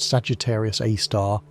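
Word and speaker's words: Sagittarius A*: The Milky Way's central black hole called Sagittarius A, pronounced Sagittarius A star, has a mass of about 4 million suns.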